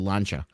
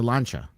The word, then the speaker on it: Lancia: Not many people know it's a Lancia. Awesome Italian. It's called a boat. It's a Lancia.